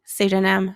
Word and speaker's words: pseudonym: which constant is pronounced in the PS sound spelling pattern psyche pseudonym psychologist we only hear we only pronounce the s in that nice work let's